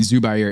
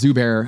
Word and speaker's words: Zubair: Sorry, I keep saying Zubair. It's Zubair, I believe. He did the muffin where going more Eurocentric with the Zubair. I know. I don't know why I'm throwing an extra syllable in there.